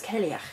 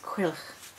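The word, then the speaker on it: Cailleach: And I thought it was Celiach, but apparently it's Cuilch. So, according to sites with Celtic pronunciations in crone, hag of the Celtic variety.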